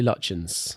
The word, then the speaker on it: Lutyens: Have we ever established how that word is pronounced? I say Lutyens.